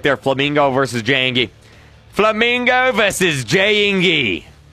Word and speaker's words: Jayingee: It's pronounced Jayingee.